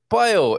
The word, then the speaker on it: paio: Paio is the correct pronunciation, right? Paio. Yeah, paio.